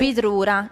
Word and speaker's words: bidrura: No, come si dice? Bidrura. Noi diciamo bidrura.